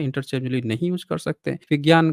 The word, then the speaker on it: विज्ञान: हिंदी में विज्ञान कहा जाता है, जिसको विज्ञान पढ़ते हैं अगर सही प्रोनाउंस विज्ञान।